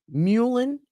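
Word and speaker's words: mullein: um but mu mu I have to say it right muan m l l e I am muan and Elderberry amazing payment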